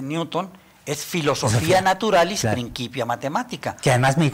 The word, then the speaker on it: Principia: Principia Matemática. Que además me di cuenta que lo pronuncias como en alemán, Principia, no Principia.